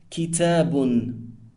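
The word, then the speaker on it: كِتَابٌ: If we wanted to say a book, it is pronounced Kitabun. Now, the un sound at the end of the word is known as tanween and renders the word indefinite.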